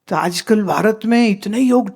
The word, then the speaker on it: Yog: And those poor foreigners don't understand the proper pronunciation so they call it YogA Whoever comes says - I do Yoga I say - my dear, first learn how to say Yog - that would be